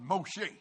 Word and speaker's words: Moshe: all the Hebrews going this is the Hebrew pronouncer of Moses Moshe that is not a